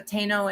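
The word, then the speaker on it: Taíno: The Taino people are, sorry, and I did mispronounce that originally. Taino people are one of the peoples that colonization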